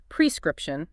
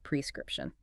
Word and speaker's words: prescription: another one is prescription make sure to emphasize the script sound in the middle prescription not prescription this is really helpful